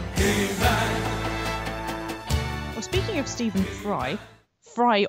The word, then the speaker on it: Fry: speaking of Steven fry fry obviously rhymes with sky and sky is the